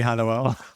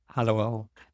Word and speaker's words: Halliwell: Halliwell. She's Spanish. I pronounce it the Spanish way.